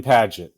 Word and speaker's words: Paget: name right padet but padet but it's it's like page with a t people spell it and